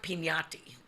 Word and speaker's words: Pignati: name yeah and the last name is pignati it's pronounced pinati but very uh that's